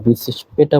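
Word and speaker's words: bis später: ক্ষেত্রে আমরা বিসবাল্ট বা বিসিস পেটা বলতে পারি। এখানে দেখতে হবে যে এই জায়গায় আরটা তেমন উচ্চারণ হয় না, বিসিস পেটা এমন করা, ঠিক আছে।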